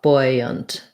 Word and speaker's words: buoyant: It's like buoy, first syllable stress, and buoyant is more like boy, and then a schwa, buoyant.